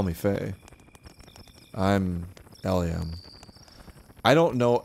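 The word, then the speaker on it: Elhaym: eliam i don't know i think that's hebrew i have no idea what the actual pronunciation is i've always said eliam el hey i think it's el hyem would be the actual way to say it but i've always pronounced it in my head as ellium la el heim so that's how we're gonna say it but my parents call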